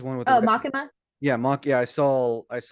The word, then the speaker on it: Makima: YouTube about the Maki, or how do you pronounce her name? She's one with the Oh, red. Makima.